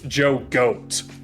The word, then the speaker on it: Jogo: Jogo from Jujutsu Kaisen. The L machine. I'm sorry, Bill. You mispronounced that. It's Joe Goat.